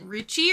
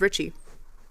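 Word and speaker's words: Ricci: her and um Christina is it Richie or Richi I think it's Richie okay even though it's spelled r i CCI yeah because the two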